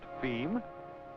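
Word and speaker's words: fim: distribution within Brazil f i m pronounced theme being yes you've guessed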